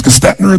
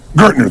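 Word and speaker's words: Gerstner: And they brought in what I want to pronounce his name was Gastner, the gentleman who came in who was like the major turnaround guy. What's his name? Gertner.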